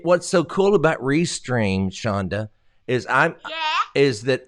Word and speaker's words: Chonda: facebook what's your thing Chandra well first of all it's Shonda there's no arm it's CH o in da I mean everybody knows that are you serious so